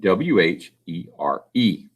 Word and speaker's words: where: a lot of books i know that there is a silent e on the end we don't hear it all and so the word is spelled w-h-e-r-e where this is why it's